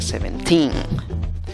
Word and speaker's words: seventeen: la pronuncias esta palabra no se pronuncia seventeen sino necesitas dos golpes de voz dos fuerzas de voz por decirlo así una fuerza no tan grande en la primera sílaba y una fuerza prominente más grande en la tercera sílaba por eso es que